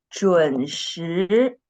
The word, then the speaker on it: 准时: 准时, second tone, not the first tone.